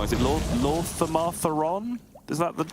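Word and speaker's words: Lor'themar Theron: But you can say it like really, like Lorthamartheron. You can say it really like rhythmically, which is clearly the correct way to say it because it sounds the best.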